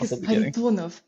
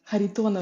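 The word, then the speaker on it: Kharitonov: me off I think haritonov haritonov haritonov yes like Harry Potter is how you describe it uh and what is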